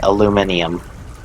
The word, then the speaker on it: aluminium: I know is that they put an extra ey in aluminum so they say aluminium wow someone who's not